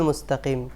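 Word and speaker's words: المستقيم: Scene পড়েন ইহদিনা সিরাতাল মুস্তাকিম ইহদিনা মুসতাকিম হবে উনি পড়ছেন মুসতাক এখানেও তাটাকে লম্বা করে ফেলছেন।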